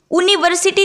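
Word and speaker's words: university: क्योंकि जब हम इसका उच्चारण देखते हैं तो वो य से हमें सुनाई देता है। यूनिवर्सिटी यूनिवर्सिटी तो इसको नहीं पढ़ेंगे।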